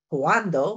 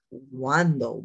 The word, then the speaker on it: cuando: Like I might say cuando, which means when, but I said cuando. W, w, that sound w is in there.